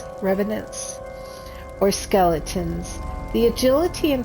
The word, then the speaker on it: revenant: say that word how do you say it Revenant Revenant or skeletons the agility and fighting ability of